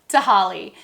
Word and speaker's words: Tehaleh: just seen the name you might not know how to pronounce it so here it is again tahali tahol is located in